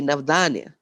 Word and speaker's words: Navdanya: Navdanya, the word basically means 9 seeds, diversity, but pronounced in a slightly different way, Navdanya.